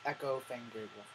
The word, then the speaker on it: Echo Fang Grey Wolf: So now, my 21st year, as I start this, I'm going under the name of Echo Fang Grey Wolf. Let me spell that out for you, for those in the back.